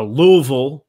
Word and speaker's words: Louisville: playing college ball at louisville and a louisville i think is how they say it there something like that it's just don't enunciate the words but yeah he's he's